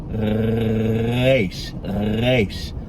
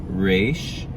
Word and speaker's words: reysh: Many Americans just pronounce this reysh like our English R, so they'll say reysh.